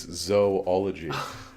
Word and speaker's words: zoology: Oh, Edenic zoology. That's right. You didn't even know you wanted that, did you? Did you know that there is no zoo in zoology? It's zoology. Everybody's learning something here.